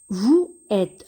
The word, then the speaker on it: vous êtes: Et nous avons une règle qui dit que lorsque le S se trouve entre deux voyelles, il se prononce ZE. Donc ici, le S va se prononcer ZE. On va relier les syllabes V ou vous, ZE, êtes, zet. Et on va dire vous êtes.